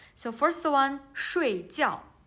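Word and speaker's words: 睡觉: Okay, so we can see the tones is different, but the syllable is same. They have the same initials and the same finals, right?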